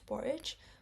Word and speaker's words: Borage: Borage, with the word courage.